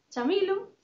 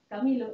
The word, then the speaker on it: Chamilo: Entón, a pronunciación correcta sería Chamilo, en español, Camilo en inglés, e ven da mezcla